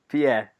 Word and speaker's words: Pied: And how is it pronounced? Pied? Pied.